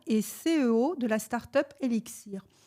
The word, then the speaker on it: LXIR: CEO de la start-up élixir alors ellixir ça s'écrit l XI R pour ceux qui voudrai